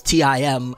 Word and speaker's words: T.I.M: i don't want anybody to spell it out nobody you know what I'm saying says Tim or nobody says h-e-r for her so please don't do that with my name is